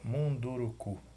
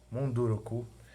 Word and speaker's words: Munduruku: Como é uma palavra que a gente não conhece, não está no nosso dia a dia, é o nome de uma pessoa, pode ter outra pronúncia, mesmo sem acentuação gráfica.